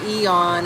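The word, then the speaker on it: Aeon: Now, what is uh Well, they pronounced it Eon. I know it's got an A in front of it. It looks like a Eon, but it's he's dropped the A. The A is silent and it's Eon.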